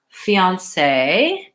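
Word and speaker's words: fiancé: word fianc so fiance it's a 2ds money has stress on the last syllable so in French they put the stress mark if it's the stress syllable of fiance I'm gonna lengthen on that last syllable I have the vowel e the vowel ah and then s sound and an a fiance if you don't say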